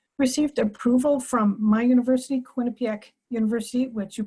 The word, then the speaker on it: Quinnipiac: We have received approval from my university, Quinnipiac University, which you pronounced absolutely correctly.